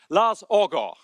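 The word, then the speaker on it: Lars Aagaard: Ladies and gentlemen, please now welcome our host, the Minister for Climate, Energy, and Utilities of Denmark, Lars Orgo.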